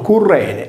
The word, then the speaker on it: Cirene: Apollonio Rodio aggiunge che Cirene, pronunciato Currene, la divinità che conduceva